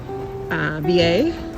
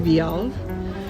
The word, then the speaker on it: Vialle: In French, the double L is a Y, so I'm going with Vialle. Could be Vialle. I might just switch back and forth between the two.